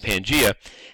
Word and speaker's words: Pangaea: Okay, Pangaea, but it's just pronounced Pangaea, and that basically means Pan means all, like